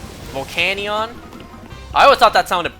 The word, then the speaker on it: Volcanion: You know, when this Pokemon was brand new, and we didn't even know this thing's official pronunciation yet, I always thought it would be pronounced Volcanion. Volcanion?